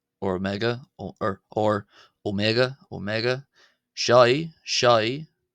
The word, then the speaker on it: ⲱⲙⲉⲅⲁ: other O only uh based off the Greek omega. So it can also be called uh omega omega as in as because it's borrowed from